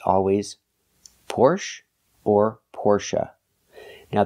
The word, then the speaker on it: Porsche: Porsche or Porsche now the last syllable is pronounced uh like Cup in up not a like say and pay but uh like cup and up Porche it's a relaxed sound the syllable is not stressed the stress is on the first syllable pora Porsche example I don't have